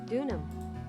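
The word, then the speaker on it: Deauxnim: Dunham. Dunham? Dunham. So it's Elise Dunham. I would never have thought of that. Dunham. So the X is silent.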